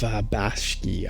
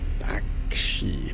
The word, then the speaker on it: Bakshi: film by Frank Visetta and Ralph Bashki. I always say that name wrong. Bakshi Bakshi. Uh so this is really the backstory.